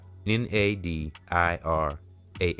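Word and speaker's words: Nadirah: Okay, I'mma pronounce I'mma spell it out. N A D I R A H. Nadira Shakur and Tasha Laray.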